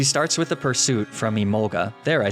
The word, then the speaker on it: Emolga: She starts with a pursuit from Emolga, there I said it right.